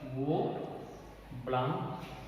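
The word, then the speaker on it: Bouveault-Blanc: यहाँ पर एल की साइलेंट है, वो ब्लांक रिडक्शन।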